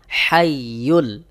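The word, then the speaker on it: الْحَيُّ: জবর হাই আল হাই এখানে দেখুন যে হা রয়েছে এই হা কিন্তু হলকের মধ্যখান হইতে অর্থাৎ গলার মধ্যখান থেকে একটু চাপ দিয়ে উচ্চারণ করতে হবে এই হা যদি আপনি এই হার মত উচ্চারণ করেন করেন তাহলে অর্থ পরিবর্তন হয়ে যাবে এজন্য অবশ্যই আপনাকে সহি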